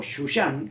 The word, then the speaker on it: Susa: relata es aquí en susa o shushan como también se pronuncia Y ese es el